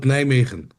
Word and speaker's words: Nijmegen: Yeah, I live between two big cities, but you can call it Nijmegen. Okay. Nijmegen. Nia, can you spell that?